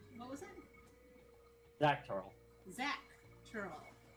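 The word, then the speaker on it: Xak Tural: Zach Tural. Yeah, X-A-K. Just think of that how you spell it, how you say the name Zach.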